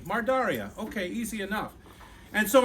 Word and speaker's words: Mardarije: And you look at it and you think, what is that, And if you want to know how it sounds, you say Mardaria. Mardarije.